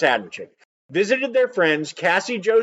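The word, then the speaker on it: Adamcik: m like Adam c i k but it's pronounced Adam chick visited their friends Cassie Joe stoddart and her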